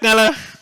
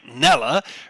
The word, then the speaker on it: Kneller: With the surname Kneller, right? It's with a silent K, and so people, and I say it fast, like Nella.